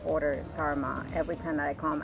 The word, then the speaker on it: sarma: The sarma, the snar, sarma.